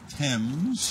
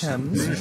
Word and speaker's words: Thames: Yeah, the H is silent. Yes, it is. And this is right your hot rod. Yes, it is. 48 Thames. Thames.